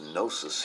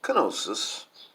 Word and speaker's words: Knossos: the palace of knossos this pronounced gnosis here in the United States it's pronounced canosa's in like in the UK and it's actually spelled you know KN Oh SSO less and the last Oh was pronounced like an I uh I had